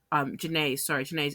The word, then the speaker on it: Jhené: a cryptic post of Jean's Instagram, Jhene's Instagram of an unreleased song. You know, I used to say her name wrong for the longest time.